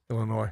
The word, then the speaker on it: Illinois: Illinois.